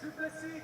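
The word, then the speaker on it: Du Plessis: I told you, I came here and spoke to you on my second fight, and I said, learn the name, it's Dricus Duplessis, the S is silent.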